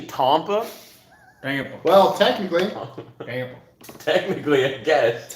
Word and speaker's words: Tampa: do you pronounce tampa i've heard people say with a very southern accent it's actually tompa well technically technically i